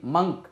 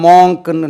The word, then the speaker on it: monk: மங்க், துறவி, மங்க். இது பார்த்தா மாங்க்னு நம்ம படிப்போம், மங்க், மங்க், நன் 29, 30, 2.